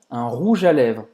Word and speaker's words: rouge à lèvres: Então, presta atenção nessa pronúncia, que esse G-E de rouge, ele é quase pronunciado como um J e ele se junta com um A depois.